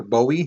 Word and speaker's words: Bowie: with the gun the next guy was jim bowie or bowie however you want to pronounce it um he was a famous fighter